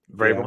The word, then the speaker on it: Vrabel: Vrabel, what is his name? Vrabel, yeah.